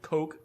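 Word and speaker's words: Koch: Heckler and coke or Heckler and Cotch, however the hell you want to pronounce it. I say cotch. Everyone says cotch.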